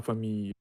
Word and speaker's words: famille: représentaient l'histoire de sa famille. De sa famille or de sa famille. De sa famille, probably, right? De sa famille. So these two L's, they are always pronounced like y.